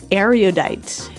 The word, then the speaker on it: erudite: will hear in the dialogue, and it is erudite. Erudite. Erudite. Okay, so this word erudite, some people pronounce it erudite.